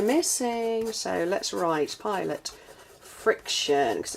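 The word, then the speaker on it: Frixion: So, let's write Pilot Friction cuz it's spelled F R I X O N.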